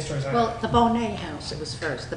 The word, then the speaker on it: Bonnet: How about that Bonnet House? The Bonnet House. Oh, Bonnet. So It was Bonnet. Someone corrected me. I said Bonnet and they said Bonnet. the people there pronounced it Bonnet.